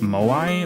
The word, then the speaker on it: Moai: Moai?